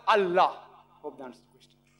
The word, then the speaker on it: Allah: They write it as I la. But when you pronounce it, we have to tell them pronounce it as Allah.